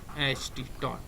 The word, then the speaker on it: taught: Teach है, teach का V2 और थर्ड ये दोनों सेम होता है, जो होता है TAUGHT, टॉट, ठीक है। तो यहाँ मैं लिखता हूँ TAUGHT, टॉट, ठीक है। इसका प्रोनाउंसिएशन टॉट होता है, ठीक है।